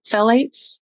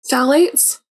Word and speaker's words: phthalates: say it the the phthalates I always say it wrong phthalates phthalates yes yeah it's okay I have this moment like when I've heard it and when I read it and it doesn't they don't match up yeah I feel like